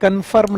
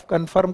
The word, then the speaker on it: conform: पहली बात तो इसका प्रोनाउंसिएशन ठीक करिएगा, एक कन्फर्म नहीं है। आप लोग जब इसे कन्फर्म बोलते हैं तो इसका मतलब है आप कन्फर्म कर रहे हैं कि आप बेवकूफ हैं। इट इज नॉट कन्फर्म, इट इज कॉन्फॉर्म।